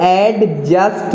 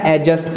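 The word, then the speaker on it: adjust: हो गया है और इसको ऐड जगत नहीं पड़ते हैं इसमें डिप साइलेंट है एडजस्ट पढ़ते एडजस्ट हो गया की सदी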